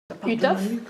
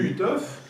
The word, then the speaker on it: Uhthoff: Alors, Utoph, c'était à la fin du 19e siècle. C'était un médecin allemand. C'était un ophtalmologiste allemand. Donc ça s'écrit U-H-T-H-O-2-F. Ce monsieur Utoph, il avait trouvé que des gens qui ont